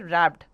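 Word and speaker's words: wrapped: सुनिए रबड ठीक है ये डब्लू शुरू होता है बट इसे हम पढ़ते हैं रैप्ड ओके डब्लू में साइलेंट है स्प्लेंडर स्प्लेंडर कट स्ट्रीम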